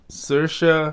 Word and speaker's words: Saoirse: say it again yeah just like it's spelled sercia yeah s-a-o-i-r-s-e this is